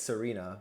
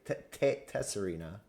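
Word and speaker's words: Tsareena: I say it's Serena, but you say Tesserina, right? Tesserina, yes.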